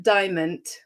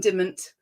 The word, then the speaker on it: Diamond: video from, now I'm going to pronounce Anne's name correctly this time, Anne Diamond. So I was calling it Anne Dimment, which is totally incorrect.